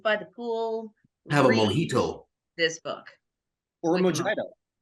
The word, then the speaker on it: mojito: Have a mojito. This book. Or a mojito. Or a what? Mojito. No. That's how tourists pronounce it. Not that. Then why would it be a J?